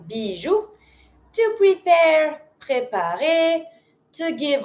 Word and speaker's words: bijou: And you pronounce everything in this one, bijou.